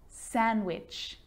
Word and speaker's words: sandwich: Sandwich. So I'm not pronouncing the D in sandwich. I'm just pronouncing the consonant N sound before it.